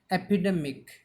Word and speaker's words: epidemic: another word, that is epidemic. What is another word? Epidemic. It's a noun. It's a four syllable word. Epidemic. Epidemic. Epidemic. Here the stress should be given on the and a.